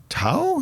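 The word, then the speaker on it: Thao: you are part of it includes Valerie June toe is that how she says her name uh how do you spell it t-h-a-o yeah yeah uh Yasmine Williams who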